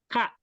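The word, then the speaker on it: كَ: itu ada k ya Ka Ini bacanya ka ya bacanya ka ka ya k itu artinya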